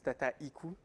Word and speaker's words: Dataiku: So Dataiku is a French company. Always difficult to pronounce that name for English people. So it's Dataiku, but you can say Dataiku. It's fine as well.